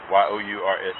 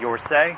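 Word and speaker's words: Yourse: Spell it for me. D E J U A N A. Yours. Y O U R S E.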